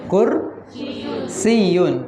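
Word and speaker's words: كرسيّ: saya bertanya maahaadzaa maahaadzaa kursiyyun pakai tasydid Yadnya kursiyyun kembali ke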